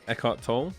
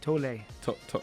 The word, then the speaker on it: Eckhart Tolle: How are we pronouncing the name today? Eckhart Tolle. Tolle. Are you sure? Well, that's how I heard them say the name.